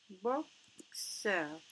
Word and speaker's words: boxeur: Donc ici, on va écrire un boxeur. Vous remarquez ici, le mot boxeur, le X se prononce X.